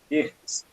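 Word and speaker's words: Geertz: Tu começa com uma citação direta do Hirtz. É assim que se pronuncia?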